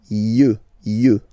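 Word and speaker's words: yeux: You. Okay. Don't pronounce the final X as usual.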